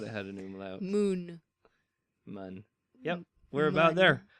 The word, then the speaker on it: Mun: Yes, mun. I thought I said it right that time. It's pronounced mun.